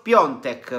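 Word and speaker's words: Piątek: è il giocatore quindi christophe piontek perché così si pronuncia primo luglio 1995 attualmente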